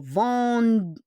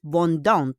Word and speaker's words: vendent: O vende. O-N-T. But it's not vendante.